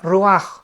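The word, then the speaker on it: רוח: Y encuentra ahí, ¿verdad?, que cuatro espíritus, porque la palabra aquí vientos es la palabra hebrea ruaj, que se escribe r u a c h, ruach, pero se pronuncia ruaj.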